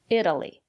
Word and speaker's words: Italy: Italy, Italian. Italy. The syllable after the letter T is not stressed. We pronounce the letter T as a fast D. Italy.